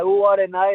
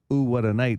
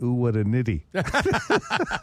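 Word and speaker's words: Oowatanite: with the album, and it's spelt ooh, what a night, but as in one word. Yep. Right? And he called it, ooh, what a nitty. And we had to correct the kid.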